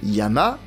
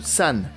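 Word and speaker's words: 山: Petit exemple que l'on a déjà vu sur la chaîne, la montagne peut se prononcer yama ou san. Mais si, rappelez-vous, le mont Fuji s'appelle Fujisan et non Fujiyama.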